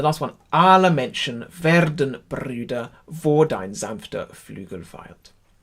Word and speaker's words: Brüder: So, Brüder. That's the one with the accent on there. Really give that some welly.